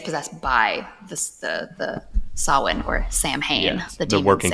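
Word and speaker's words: Samhain: The great it's the great pumpkin Sam Winchester because well number one they mispronounced Sawin and they call it Sam Hayne.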